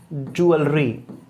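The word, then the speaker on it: jewellery: तो इसका प्रोनाउंसिएशन होगा ज्वेलरी, ठीक है।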